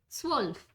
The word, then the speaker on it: zwölf: Number 12 is pronounced as zwölf.